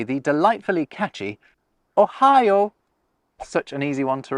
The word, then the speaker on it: ohayo: So konnichiwa and ohayo gozaimasu, if you want to say it like them. But yeah, not a big deal. Even if you say Ohio, they'll understand it, but it is a lengthened vowel.